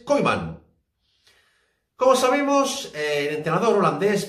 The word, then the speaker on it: Koeman: Y todo gracias a este hombre, Ronald Koeman, que por cierto se pronuncia en holandés Koeman.